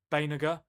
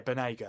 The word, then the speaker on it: Banega: How do you even say that name? I think it's Banega. That's the one. Yeah. Oh yeah, I remember that Argentinian midfielder, Ever Banega. Yeah. That's how you say it. Yeah, it's a Benagr. That's it. Yeah, Banega, that's it.